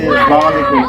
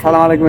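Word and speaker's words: السلام عليكم: না আপনার আসসালামু আলাইকুম আসসালামু আলাইকুম আপনি বলছেন সালামু আলাইকুম এটা তো জির বাংলা উচ্চারণ আস হামজা সিন জবর আস সিন জবর সা আসসা লাম আলিফ জবর লা আসসালাম মিম পেশ মি আসসালামু আইন জবর আ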